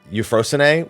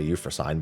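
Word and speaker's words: Euphrosyne: a Golia and uh euphrosinee which because people complained enough I guess I'll say it correctly I just say you for sign because it's how my brain wants to read it uh Evil east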